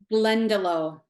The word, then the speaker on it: Glendalough: How do you pronounce it? Glendalough.